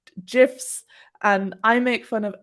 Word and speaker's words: GIF: the creator of gifts said that they should pronounce gifs and i make fun of everyone who pronounces